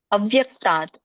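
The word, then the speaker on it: अव्यक्तात्: ಇದರ ಒಂದು ಉಚ್ಚಾರಣೆ ಈ ತರ ಬರುತ್ತೆ. ಅವ್ಯಕ್ತಾತ್, ಅವ್ಯಕ್ತಾತ್ ಅಂತ ಕರೀತಾರೆ.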